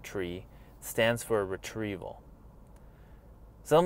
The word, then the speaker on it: trie: Well, to me, it is the idea of the tree, the T-R-I-E, pronounced tree, stands for retrieval.